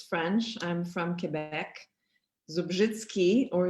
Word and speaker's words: Zubrzycki: that second thing is, which my Polish sense can pronounce as Zubrzycki. God knows how you pronounce it in Michigan and your students pronounce it.